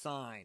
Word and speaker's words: sine: an angle angle yes it's pronounced sign it's s i n e but we abbreviate s